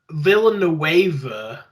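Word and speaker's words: Villeneuve: like hi this movie is directed by dennis villanueva but yeah you came to play with that pronunciation there first attempt appreciate it uh lots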